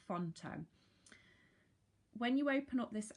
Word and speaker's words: Phonto: you see that there pH Ont o is how they spell it font o when you open up